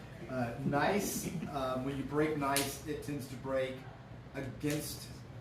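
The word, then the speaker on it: gneiss: whatever t y nice um when you break nice it tends to break against the the filiation because it's as separated that's spelled g e g n e i SS it's pronounced nice I didn't make it up so uh you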